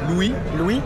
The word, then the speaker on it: Louis: le S ou pas Louis Louis ça ça le S on prononce pas ok dernier Anthony martial